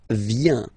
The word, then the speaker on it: viens: First form, je viens, final S not pronounced, je viens. Remember, I-E-N, ien, je viens.